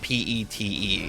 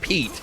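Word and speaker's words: Petre: Uh it's it's not pet te. It's uh it's spelled a different way but it's pronounced Pete.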